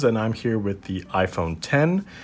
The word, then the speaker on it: iPhone X: I'm here with the iPhone 10 it's the 10th edition iPhone it's pronounced it's written out X but you're saying it 10 I might be a